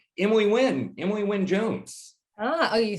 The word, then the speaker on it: Wynne-Jones: Emily Wynne-Jones.